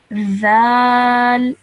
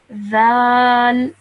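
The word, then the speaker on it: ذال: So you place the tip of your tongue between your top teeth and your bottom teeth, and then you pronounce this letter. Zal. Zal.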